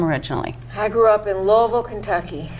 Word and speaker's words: Louisville: I grew up in Louisville Kentucky you have to say it like you have a mouthful of marble so you didn't grow